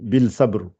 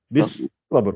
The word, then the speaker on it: بالصبر: Alors, tu prononces un petit L ici, bil sabr. C'est bien ce que j'ai entendu deux fois. Donc, en fait, il n'y a pas de L, il n'y a pas de sod. Donc, lettre, voilà, tu attaques le sod tout de suite. Bis, tu vois? Bis sabr. Le L là, on ne la prononce pas.